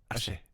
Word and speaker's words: Achey: Achey.